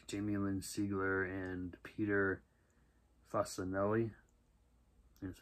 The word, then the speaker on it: Facinelli: 2017, starring Sean Ferris, Milo Gibson, Jason Patrick, Jamie Lynn Sigler, and Peter Facinelli.